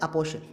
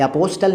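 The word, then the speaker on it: apostle: टी से देखिए, पहला वर्ड है अपोशल। ये अपोस्टल नहीं है, अपोशल है।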